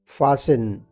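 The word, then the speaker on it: fasten: फेंट बेहोश होना फेंट फसन फसन इस लफ्ज को हम फसिन प्रोनाउंस करेंगे फसिन फसन का मतलब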